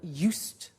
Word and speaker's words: used: Christmas now this verb used to well it's written you s ii d but the pronunciation is used and we'll see that